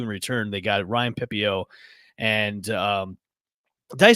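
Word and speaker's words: Pepiot: They got Ryan Pepio and did I say his last name right, Drew? It's Pepio, right? Pepio, that's right. Pepio. I was like, man, remember to say Pepio.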